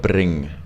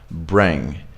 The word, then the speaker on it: bring: word right and yeah you guys say it like really really harshly so bring bring we don't go like bidding right bring it sounds so different when you say bring right bring proud